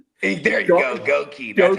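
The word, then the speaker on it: Goedeke: Gookie, dude. That's a up name. Goi. There you go. Goki. That's how we're supposed to pronounce it. Goi.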